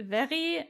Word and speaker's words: Verry: Depending on if you pronounce it German or English. So in German it would be very, and in English it's very, so it's totally fine.